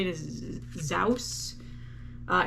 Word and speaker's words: Zous: you say it is zaus uh it's z-o-u-s it's not zeus zous maybe zos i don't know um this is